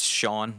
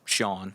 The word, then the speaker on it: Sean: It's Sean. That's how you say it. It's Sean.